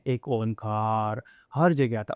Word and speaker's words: ओम: कौन से तरीके से ओम को प्रोनाउंस करना चाहिए? वैसे इसके तीन चरण करना चाहिए। अ ओ म अकारा जो है वह छोटा होना चाहिए। अ फिर ओ रहता है उससे बड़ा होना चाहिए।